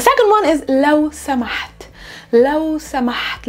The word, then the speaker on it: لو سمحت: لو سمحت. Let's work on the pronunciation first. There's a ha.